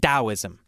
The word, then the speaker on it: Taoism: i don't know why why didn't we just spell it with a d i don't know it